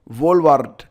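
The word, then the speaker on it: Wolvaardt: वार्ट क्या नाम है? वाराट या जो क्या पढ़ेंगे आप इसे भाई? ठीक है? डब्ल्यू ओ एल वी ए आर डी टी क्या पढ़ेंगे आप? डी इसमें साइलेंट रहेगा।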